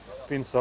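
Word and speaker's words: Pinsa: Pinza Romana, sometimes known as Pinza and pronounced Pinza, is a hand-pressed type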